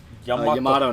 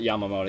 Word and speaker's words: Yamato: __ ] that's great Yamato not not Yamamoto yeah no for some reason like Yamamoto chat I keep saying Yamamoto for some reason I think that's easier to say even though it's more syllables it's Yamato Yamato is gay that's